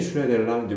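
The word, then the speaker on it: Schneiderlin: 슈네데를린이 슈네데를라는데, 왜냐면 이그 이름을 자체를 그냥 읽었을 때는 당연히 이거는 독일계 이름이고 그 슈나이덜린이겠지. 뭐 독일어는 어떻게 발음하는지 모르겠지만, 근데 이거를 프랑스식으로 읽으면 슈네데흘랑이 될 거야. 근데 뭐또 자기가 또 발음하는 방법이 있다는 거지.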